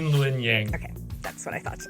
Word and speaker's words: Luen Yang: Yeah, it's Luen Yang.